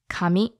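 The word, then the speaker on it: 紙: romaji kam I but these two words are actually pronounced a little differently the intonation is a bit different now the word for God is pronounced coming and the word for paper is pronounced coming so just emphasis on you know the beginning or at the end okay so God is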